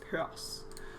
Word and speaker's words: Peirce: purse is he american the danish wikipedia says that his name is pronounced pears so purse should be good then came purse and